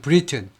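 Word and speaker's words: Briton: 눈치 보셔야 돼요 웬만하면 브리튼 발음은 이거하고 같습니다 나라하고이 브리튼 사람하고 같아요 발음은 리입니다 브리 영국 사람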